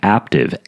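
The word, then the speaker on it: Aptiv: brought to you by active a apt IV it rhymes with active with the P isn't that cute active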